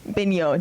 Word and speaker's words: Beno: Bignot.